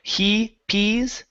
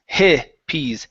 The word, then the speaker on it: hippies: So, give me a short I instead of saying he pees, it's hippies.